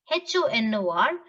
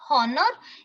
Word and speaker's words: honor: very simple h o n e s d h o n o r this is the most common words but you all pronounce it wrong hecho nest is it honest